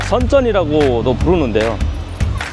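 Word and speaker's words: 深圳: 손꼽히는 남방의 최대 도시 심천 있니다 중국 발음으로 선전이라는 중국 개혁개방의 상징과도 같은 도시입니다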